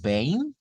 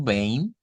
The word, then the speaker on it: bem: Tenemos tudo bem con la nasalización, ¿verdad? Es ahí y bueno, el diptongo EI en este caso que se produce pues por la combinación de la E y la M y nasalizamos, ¿verdad? Diciendo tudo bem.